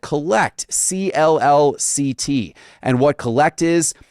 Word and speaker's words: CLLCT: You have launched your own media empire in the sports card and collectibles space called Collect, CLLCT, but pronounced Collect.